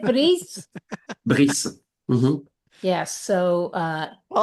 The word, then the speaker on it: Brice: But You mean Brice. Yes. Brice, is that how you say it? Brice?